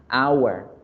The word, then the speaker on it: hour: La palabra hora en español y en inglés la H no suena. Miren la escritura. Hour, hour.